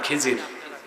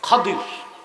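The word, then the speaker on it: خضر: খাদির, যাকে আপনারা কোন খিজির। ওনার আসল নাম কি? খাদির। শুদ্ধ উচ্চারণ কি?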